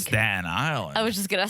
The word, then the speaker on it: Staten Island: that in someone's closet oh you're saying staddened Staten Island I was saying long no I'm saying it correctly Staten Island yeah that's what I